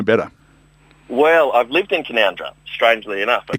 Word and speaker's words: Canowindra: Factory and can canowindra is how you might pronounce kandra if you didn't know better well I've lived in kandra strangely enough you call that living yeah great